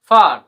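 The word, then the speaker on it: far: তো আমরা এক্সাম্পল সহ বুঝি, সি এ আর কার, এফ এ আর কি হবে তোমরাই বলো, হ্যাঁ ফার, পি এ আর কে কি হবে, হ্যাঁ পার্ক।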